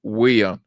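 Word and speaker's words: Wheon: Is Abraham Weah. Abraham Weah, Miata. Abraham Weah. Abraham Weah. The last name is spelled W-H-E-O-N.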